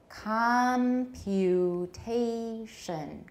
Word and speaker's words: computation: Full vowel, which syllables have a full vowel?A full vowel does not have to be in a stressed syllable. It may be shorter in an unstressed syllable, but it is still a full vowel. So what do we have? What's our pattern here with pluses and minuses? Computation. Plus, plus, plus, minus.